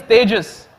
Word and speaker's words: Tejas: important there we go so I say my name is like contagious for the for the